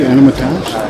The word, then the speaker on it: Anatomage: Did I pronounce that correctly? Anatomage? Anatomage. It sounds French.